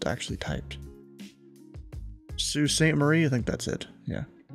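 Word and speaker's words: Sault Ste. Marie: it was different than how it's actually typed Sue St Marie I think that's it yeah cuz I heard an actual Canadian pronounced that one time it's Sue St Marie they say guys donate hundreds of dollars even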